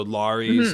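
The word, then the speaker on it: Larys: it Alex well I I say all the Ys like a Greek name so lorries and Varys I was very excited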